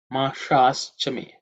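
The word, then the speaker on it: माषाश्च मे: So the next mantra is Mashaschame. Mashaschame. Mashaschame. Mashaschame kalpatam. So in terms of pronunciation, the Masha, the second word, Sha, is cerebral Sha.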